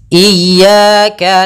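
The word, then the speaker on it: إياك: kita ulang iyaka iyaka ada dua kesalahan yang sering terjadi dalam pelafalan iyaka yang pertama memanjangkan I memanjangkan memanjangkan I apabila dipanjangkan huruf i-nya banak contoh iyaka salah karena dia memanjangkan yang kedua adalah menahan iaka itu salah juga usnya dia cukup menekan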